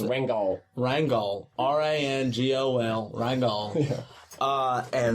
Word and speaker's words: Ringgold: My house is in this little town in Georgia called Ringgold. It's about Pronounced Rangol.